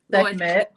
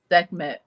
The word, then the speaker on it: Sekhmet: Y'all notice I ain't pronounced her name one time. Sekhmet. Say it again. Sekhmet.